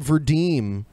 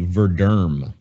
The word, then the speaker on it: Verderm: We had Verdeem trying to contact me to be on the show with Bearing. I believe it's actually Verderm.